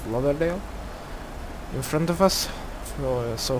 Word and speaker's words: Lauderdale: There you can see Fort Lauderdale, or Lauderdale. I pronunciate it as Lauderdale.